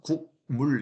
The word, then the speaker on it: 국물: 추울 때는 따끈한 오뎅 국물이 최고인데 말이죠. 빨리 발음해 보면 국물 이렇게 발음하는 사람 없고 국물 이렇게 발음하죠.